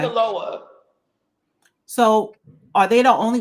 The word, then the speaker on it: Sinaloa: How you pronounce that? S-I-N. You said it right. Okay. Sinaloa.